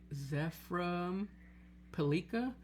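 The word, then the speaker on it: Zeframpilica: Ritual Beast Tamer Zephram Pelika, that's how you pronounce it, is getting bought out for its super rare version.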